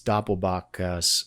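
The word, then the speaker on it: doppelbock: releasing the Doppel boach and it's Doppel boach you know Doppel boach is spelled D o p p l b o c k and so we basically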